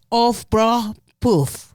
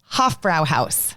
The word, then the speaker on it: Hofbräuhaus: Let me see if I can pronounce that correctly. It's Hofbräuhaus. Hofbräuhaus.